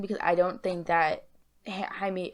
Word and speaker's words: Jaime: i don't think that jaime jamie harrison whose name has been i've been pronouncing wrong this entire time he's going to